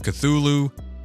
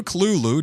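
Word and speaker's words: Cthulhu: a dream call of cthulu or Kulu depending on how you want to pronounce it Arkham Horror and xfiles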